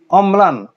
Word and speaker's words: অম্লান: যেমন অম্লান, অম্লান, মটা দুবার উল্লেখ হচ্ছে।